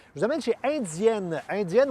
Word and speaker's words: Indienne: Indienne, oui, prononcée à la française.